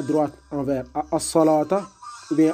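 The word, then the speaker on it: الصلوة: Et ce waw-là, on ne le prononce pas, tout simplement. On allonge comme si c'était un alif dans l'écriture hors coranique.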